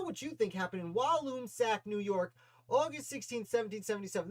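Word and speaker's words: Walloomsac: is what happened in walloon sack new york on august 16th 1777. i think it's pronounced walloon sack i'm from new york and i still have trouble with that one so i'll throw your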